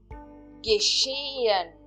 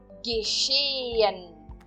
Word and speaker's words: geschehen: Geschehen. Geschehen. Verificam que eu 2 vezes falo o E, na verdade. Geschehen. Geschehen. Eu não estou pronunciando o H aqui, de novo.